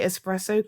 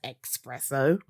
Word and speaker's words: espresso: know these guys now can say espresso correctly whereas half the waking world says expresso they can spell it